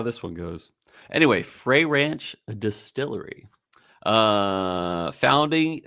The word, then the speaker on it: Frey: Uh and it was founded by Colby and Ashley Frey, not Fry. I know people that that have the same spelling and they go by Fry, but this is Frey.